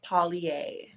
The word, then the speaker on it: Paulyae: they pronounce your name my name is pronounced Paulie Paulie is it sounds frenchish but uh folie a okay yeah okay